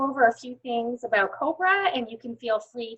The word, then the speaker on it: COBWRA: is it spelled so it's spelled cobra like the snake and it's spelled c-o-b